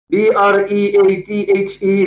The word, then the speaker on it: breathe: is breathe not breathe there is a difference b r e a t h e this is the verb and you pronounce it breathe b r e a t